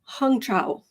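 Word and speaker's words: Hung Cao: what I okay apparently this man's name is pronounced hongcha I looked at I I saw I went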